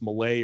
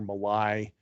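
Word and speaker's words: Milei: guy I don't know I'm going to pronounce his name wrong but it's Malay or Malai m-i-l-e-i this guy is like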